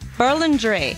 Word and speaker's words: Berlingeri: Berlingeri. Berlingeri. Yeah, it's Italian. Sometimes it gets a little difficult to pronounce, but yeah, it's just Berlingeri.